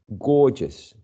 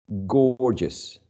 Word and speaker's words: gorgeous: gor just gorgeous but the pronunciation of these two graphic names or letters is uh different right gorgeous gorgeous okay very very interesting